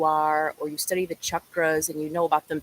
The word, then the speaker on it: chakra: welcome to join and if you're not understanding chakra is how it's pronounced in Sanskrit and a lot of westerners will say chakra that's what we're talking about and it's got